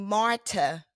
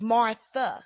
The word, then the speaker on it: Martha: me today so Marta I'm pronouncing your name Marta because I've heard you say Marta but normally if I were just to see it I would read it as Martha I know okay but